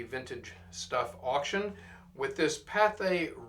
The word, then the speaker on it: Pathé: We're going to wrap up part five of the vintage stuff auction with this Pathé Records Globe, or Pathe as some like to uh pronounce it.